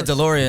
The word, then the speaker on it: DLRN: Is it DeLorean? Yeah, DeLorean. DeLorean. So, but it's spelled DLRN. Yeah.